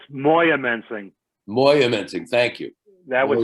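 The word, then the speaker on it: Moyamensing: days in and i i don't know if i'm pronouncing this maya missing prison is that around here that's in northeastern pa i believe that's moya mensing moyamenting thank you that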